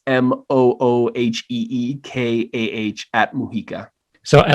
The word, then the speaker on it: Mujica: It's all at Mujica, but it's my last name spelled phonetically because everyone always butchers it. So it's MOOHEEKAH at Mujica.